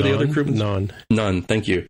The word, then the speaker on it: Nhan: Non, thank you. It's like spelled like non, the Indian food, Nhan, which is very close to how you say non, which is the Indian bread.